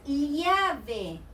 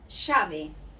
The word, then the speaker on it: llave: If I got double L, it is llave. But here in Buenos Aires, we pronounce it llave.